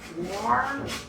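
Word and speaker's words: Ware: I think her last name is pronounced Ward.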